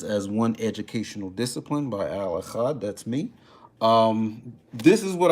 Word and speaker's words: Al Achad: know what I'm saying, don't know how to pronounce that. Just say Al Achad, it's cool.